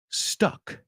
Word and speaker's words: stuck: uh uh so the let's separate the vowel sounds ah stock ah stuck uh a stock stuck and